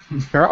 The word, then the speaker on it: Perro: James, please feel free to correct me if I just for some reason did I pronounce it correctly, James? That's good enough. Perro, okay, great.